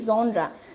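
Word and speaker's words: genre: সো the word হিয়ার ইজ জনরা, ইটস জনরা, জেনরা, জেনর এরকম কিছু না, ইটস জনরা। সো এখানে যে জিনিসটা সেটা হলো জনরা। আমরা কি বুঝতে পেরেছি, এটা হলো জনরা।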